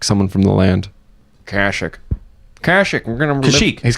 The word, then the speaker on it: Kashyyyk: Kerner says you mispronounced Kashyyyk. No, Kerner. Kazook. It's called Kazook. I'm calling it Kazook forever. Kerner, you just say it like someone from the land. Kashyyyk.